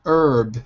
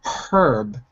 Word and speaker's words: herb: in the second picture in american english we say herb without the h in british english they say herb with the h other than that it's